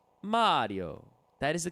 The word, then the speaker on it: Mario: Mario yep it's Mario Mario it's an Italian first name we know how to say it this this one was